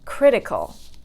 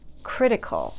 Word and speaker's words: critical: Critical, critical. So critical, critical has only 3 syllables. So counting backwards from 3 is the first syllable, critical, okay?